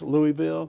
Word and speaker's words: Louisville: Louisville Georgia our home and it should be pronounced Louisville uh-huh but we're dumb Hicks that's like I live in sandy flats all right yeah I got that down so I'd rather save Louisville so I love it um well uh hey